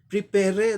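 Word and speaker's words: prepare: क्योंकि आर के बाद वावल साउंड नहीं आ रहा है, इस ई का उच्चारण नहीं होता है। प्रिपेयर तो हम लोग बोलते नहीं, तो ये वावल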